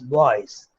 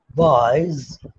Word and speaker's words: boys: nouns like boys, B-O-Y-S, boys. Okay, what do? We say boys, but phonetically it is a voiced z sound, boys.